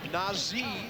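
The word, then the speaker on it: Nazr: Kentucky Maran County there's Mohammad Nai is how you say his first name spelled n a ZR Shephard finds a little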